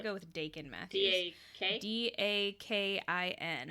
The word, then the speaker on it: Dakin: D-A-K-I-N. I would say Dakin, yeah.